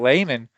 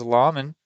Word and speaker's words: Layman: Yes, the star player we've been highlighting, Layman. Excuse me, I thought it was Lawman. I think I even called him Lehman earlier.